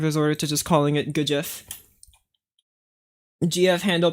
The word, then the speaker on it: GIF: remember in one video he pronounced GIF as jife, and I'd really like to call it jife, but I don't think people are gonna know what I talk about if I say jife.